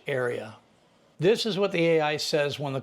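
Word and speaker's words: Aiisa: Hi, this is Aisa. I like to spell it A-I-I-S-A, Aisa.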